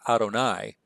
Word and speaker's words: Adonai: So it's the YHWH. The Hebrews would pronounce that Adonai. They would not say the divine name.